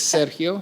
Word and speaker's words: Sergio: friend attorney Sergio Serio if you pronounce it correct it's Serio Serio that's what my parents named me but